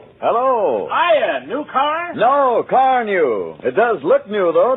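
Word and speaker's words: Carnu: Why don't you buy a can of Johnson's Car New and wax polish your car this easy way? Here's how it's spelled.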